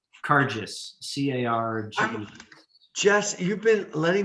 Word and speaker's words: Carges: spell your last name kargis c-a-r-g jess you've been letting me mispronounce that's embarrassing dude i've been calling you carcass it's car just no it's not you